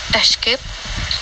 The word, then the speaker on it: escape: may say clothes especially escape espresso for some reason many people put an x sound into these words this is we spell